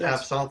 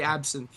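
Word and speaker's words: absinthe: As as our official French spokesman, is it absent or absence? Absent. Um it's a there's no th sound.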